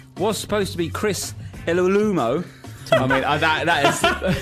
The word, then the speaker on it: Iwelumo: And our guest this week was supposed to be Chris Iwelumo. I mean, that is... How did you pronounce that, mate?